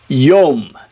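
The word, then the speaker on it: יוֹם: uh move on to number 21 try to pronounce this with me number 21 Yom Yom yum so you have a the first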